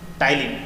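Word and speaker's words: ptyalin: अब आगे देखेंगे, सैलिवरी ग्लैंड में टाइलिन, ई साइलेंट है, टाइलिन नामक एंजाइम पाया जाता है।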